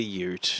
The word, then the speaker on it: ute: and it becomes a ute. Yeah. It's pronounced Y-O-O-T, it says.